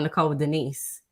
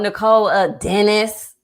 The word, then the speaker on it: Nicole Denise: ain't nothing hard about Nicole Denise. Right. But I've had people, oh, Nicole Dennis.